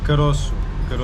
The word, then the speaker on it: caroço: Caroço. Caro. When there's a thing below the C, it's Sure.